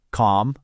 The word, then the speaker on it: calm: The answer is a silent L.